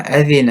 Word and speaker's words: أَذِنَ: From Abu Hurairah, the Prophet said, مَا أَذِنَ اللَّهُ لِشَيْءٍ مَا أَذِنَ لِنَبِيٍّ يَتَغَنَّى بِالْقُرْآنِ. The word أَذِنَ could be pronounced أَذَنَ or أَذِنَ. So you could have a kasra on the dhal or the fatha on the dhal.